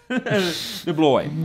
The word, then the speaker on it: DeBlois: DeBlois.